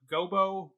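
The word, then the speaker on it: Gobbo: Jessica's relationship to Lancelot, who I've always called Lancelot Gobo. They pronounced it Lancelot Job in this production. I don't know which one's correct. I don't know if I've said Gobo as well, but yeah. It has an O at the end in most versions of the text, and I like the G-O-B Job pronunciation, like Will Arnett's character in Arrested Development, and I think like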